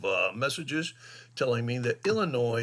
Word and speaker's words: Illinois: messages telling me that noi is uh pronounced without the S anyways down on the